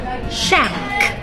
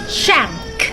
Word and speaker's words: shank: This is lamb shank น้องแกะตุ๋นนั่นเองลามตรงนี้นะคะเสียงตัว B ไม่ออกเสียงนะคะเป็น silent letter แล้วก็ shank shank เสียงตัว N ตรงนี้นะคะออกเป็นเสียง NG ออกว่าดังนั้นคำนี้ออกว่า lamb shank Active